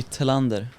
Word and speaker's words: Thelander: mountain bike royalty, Anton Thelander. Oh, did I say it right? Thelander. It's good. That's right, isn't it? Yeah, I think so. Good. Yeah. the Cleanlander. Cleanlander. In Swedish, it would be Thelander.